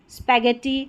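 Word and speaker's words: spaghetti: इन्हीं में जी एच को ग पढ़ा जाता है। यहां पर जी एच की जी एच को ग की तरह बोलते हैं।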